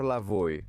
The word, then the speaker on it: Lavoe: É a partir daí que ele adota o nome que o torna famoso, Héctor Lavoe, um nome com pronúncia francesa que ele escolhe.